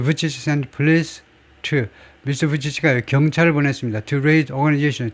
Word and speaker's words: Vučić: 이 세르비아 이쪽 언어로는 무슨 Vučić인가 뭐 그렇게 발음하지만 최소한 잉글리시 스피커들한테는요, 영어권에서는 이 발음을 부치치라고 해요.